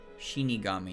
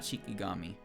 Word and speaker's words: Shinigami: Shinigami, not Shikigami. Streamer. Say it right.